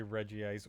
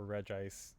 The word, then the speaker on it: Regice: You can say Regice or Regice. Either way, it's both pronounced they pronounce it both ways in canon, so and in the same episodes as well, in terms of the anime and, having electronic versions of, official Pokedexes. Not to mention 13 official guides that have different pronunciations of it.